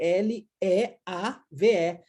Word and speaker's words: leave: Então, a palavra leave, por exemplo, de ir embora, escreve-se L-E-A-V-E. Então, o EA pronunciando-se I, leave, tá?